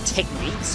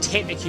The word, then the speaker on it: technique: mistakes, but anyway, it referred to moves as techniques, but for some reason, one of my friends